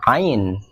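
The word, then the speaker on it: عين: kepalanya berubah wujud kadang-kadang namanya Ain bunyinya mirip kayak Hamzah yakni kayak huruf vokal a i u yang berdiri sendiri atau ketika mati fungsinya sama sebagai glotal cuman dia agak ke dalam AU kalau Hamzah a i u kalau Ain a ai kalau mati seperti ini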